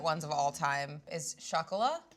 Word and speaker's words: Chocolat: One of my favorite ones of all time is chocolat. I like how you throw in the chocolate. Chocolat? People from Queens just go, hey, did you see chocolate? That's not how it's spelled, though.